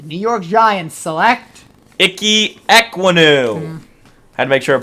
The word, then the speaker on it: Ekwonu: With the 5th pick of the 2022 NFL Draft, the New York Giants select Icky Ekwonu. Had to make sure I pronounced it right.